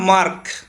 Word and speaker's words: mark: তাহলে এখানে কে এর আগে আর, অর্থাৎ কি এখানে আরটা আমাদের উচ্চারণ হবে না যেহেতু কেটা কিন্তু কনসোনান্ট। তারপরে তাহলে এটা হলো কি মার্ক, আমরা এখানে মার্ক বলতে পারি।